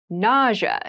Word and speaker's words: nausea: a very interesting word with an interesting spelling nausea is the pronunciation nausea refers to a medical condition a